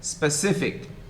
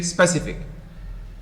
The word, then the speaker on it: specific: of you say faculty speakers say specific stressing the second syllable but most of you say specific and misplacing the stress on the first syllable um what is word